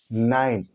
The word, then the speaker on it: nine: Note कहता है कि किसी शब्द के अंत में अगर ई हो, किसी शब्द के अंत में ई हो तो उसका उच्चारण नहीं होता है, उसकी वैल्यू नहीं रह जाती है, उस ई का उच्चारण नहीं होता है।